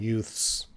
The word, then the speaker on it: youths: Well, we have the th with the S. You have apostrophe S. That's the same sound, youths.